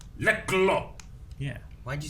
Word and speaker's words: Lekgolo: Like blah, Well, try to pronounce a K and a G simultaneously. blah. See? Lekgolo. Well, you just ignore the K, like in no. KN, right? The K just doesn't matter.